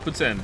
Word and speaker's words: poutine: is if it's not cheese curds it's not put in it's just cheese fries with gravy which can be good but it's not ptin some people say poutin I said poutine for a long time sometimes I still do